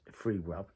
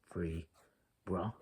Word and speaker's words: Freebra: I believe it's pronounced Freebra. See, Freebra, zebra, Freebra.